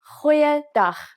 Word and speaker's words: Goeiedag: G. Try pronouncing it from the back of your throat. Goeiedag, goeiedag, ek is Anne-Marie Luck.